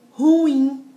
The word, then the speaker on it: ruim: Porque a vogal tônica é a segunda sílaba do hiato. Olha que coisa louca. Mas, como está seguido dessas letras, não vai receber o acento. Então, ó, Raul, ruim, né?